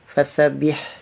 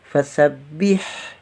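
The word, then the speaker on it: فسبّح: Kalau tanpa tasdid kita membacanya fasabbih, fasabbih. Nah, kalau ada tasdid berarti fasabbih.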